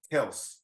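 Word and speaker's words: Kelce: degrees down there correction he said pronounce his name from now on Kel He said his brother's his brother's kelc and he's Kel Travis whatever he need to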